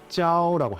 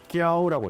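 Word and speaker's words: 教: 가르친다라는 말을 중국어로는 짜오라고 해요. 그래서 산동 지역 사람들은 이 발음을 못해서 꺄오라고 읽어요. 귀엽네요.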